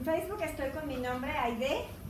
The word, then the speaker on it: Ahydé: Bueno, en Facebook estoy con mi nombre, Aide, con H intermedia, Y, acento en la E.